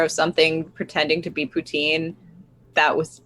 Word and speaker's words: poutine: Putin. No, no, it's poutine. It's poutine. Yeah, because otherwise you just said a very nasty word in French.